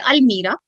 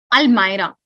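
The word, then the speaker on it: almirah: can you tell me do we call it al-mira al-maira the correct pronunciation of this word is al-maira i have seen so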